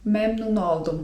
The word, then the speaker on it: memnun oldum: I to jest słówko: memnun oldum (czyt. memnun oldum) memnun oldum (czyt.